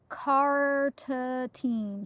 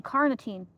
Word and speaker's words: carnitine: I never say it right. Carotine. Carnitine. There it is.